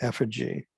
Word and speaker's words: effigy: So there is this term you should know called burning someone in effigy. Effigy is how you say that.